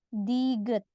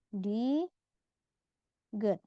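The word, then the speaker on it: 디귿: huruf berikutnya ada huruf Diget namanya di good di awal dia dibaca huruf d kita fokus ke cara baca awal awal dibaca D di akhir dibaca t kita fokus ke huruf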